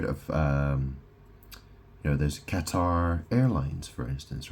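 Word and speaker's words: catarrh: It says relief from Qatar. And that is spelled C A T A R H. So, it's relief from Qatar, colds, and blocked sinuses.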